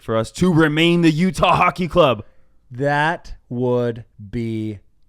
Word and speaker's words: Utah: just pointed it out two syllables Utah Utah ye um so what